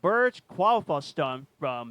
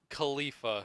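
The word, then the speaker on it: Burj Khalifa: Um the uh Burge qualif Impossible Ghost Protocol. That's Wait, how did you say that? Please tell me. Okay, hold on. How did you pronounce that? Uh, Burj Kalifa.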